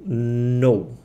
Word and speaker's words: know: O K nunca se pronuncia, tá? Quando você vê em inglês, em qualquer lugar, K e o N, ele não se pronuncia, esquece ele. Então é what do you know?